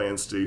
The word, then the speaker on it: Anstey: So we're talking with Carol Anstey, who's an author in Newfoundland.